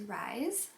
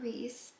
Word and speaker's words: Rhys: both really like is rise not rhys rise um which i feel like the way that i would want to spell it people would pronounce it rhys so that's like my